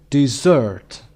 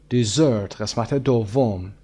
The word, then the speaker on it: dessert: number one chocolate two syllables chocolate the first syllable is stressed number two dessert dessert number three supermarket Super Market has chances of